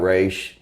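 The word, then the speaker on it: Ra's: You know, you got Raish. You got, which that's how you fucking pronounce it.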